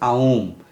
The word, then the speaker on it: aum: And of course your Sahasrara chakra is AUM, A-U-M, Akara, Ukara, Makara, A-U-M, AUM, AUM.